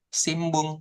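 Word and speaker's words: 新聞: Kemudian nanti ada simbung koran gitu ya. Simbung. H. Ini kan harusnya sin bun nih. N pakai Nadinya. Iya. Simbung. Nah, jadinya simbung.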